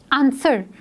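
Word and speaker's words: answer: आंसर, आंसर में डब्ल्यू जो है हमने उसको प्रोनाउंस नहीं किया है, साउंड जो है वो ए एन एस के बाद ई आर की आ रही है, सो डब्ल्यू इज़ साइलेंट।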